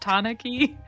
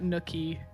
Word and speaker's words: tanuki: It's traditionally pronounced tanuki or right, not nookie. Okay, I get it. It's more like ooh tanuki.